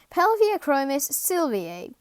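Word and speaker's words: Pelvicachromis sylviae: easy the yellow crib scientific name pelvic chromis sylvie pronunciation pelvic achromis sylvia size to eight centimeters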